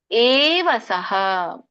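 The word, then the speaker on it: ಏವ ಸಃ: ಆಗಲ್ಲ ಯ ಸದಾ ಮುಕ್ತ ಏವಸಹ ದೊಡ್ಡ ಎ ಇದೆ ಏವಸಹ ಅನ್ನಂಗಿಲ್ಲ ಏವಸಹ ಇಲ್ಲಿ ಯ ಇದೆ ಯಾರ ಕೊಟ್ರಿ ನೋಡಬಾ ಹೆಸರು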